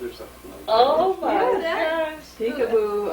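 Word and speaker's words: Picabo: something oh my God peekaboo um but it's spelled p-i-c-a-b-o right oh that's right that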